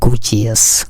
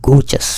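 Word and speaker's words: gorgeous: এটা দেওয়ার উদ্দেশ্য হলো অনেকে আমরা বলি গর্জিয়াস। গর্জিয়াস বলতে ইংরেজিতে আসলে কোনো শব্দ নেই, উচ্চারণটা হবে গর্জাস।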